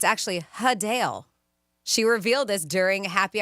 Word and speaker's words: Adele: Adele is not, in fact, Adele. It's actually Hadale.